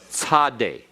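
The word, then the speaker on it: צ: This letter is tzade. Tzade. Notice the dot under the S to give it the TS signification.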